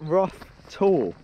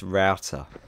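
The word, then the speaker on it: Rough Tor: so we're here at rough tour we're informed by a local in the pub that is actually pronounced router which is this little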